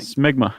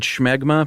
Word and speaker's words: smegma: Smegma. Cuz the last thing I want is listener mail on the pronunciation of smegma.